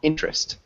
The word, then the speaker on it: interest: withdraw good and then when we say interest this is a tough one interest can you repeat interest interest yeah good so it's like that e is silent so interest yeah you did a